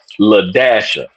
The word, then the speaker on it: LaDasha: And then he ended up telling us it was LaDasha.